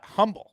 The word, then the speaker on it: Humble: knew right away it's the H for whatever reason is silent in Humble it's humble Tex it's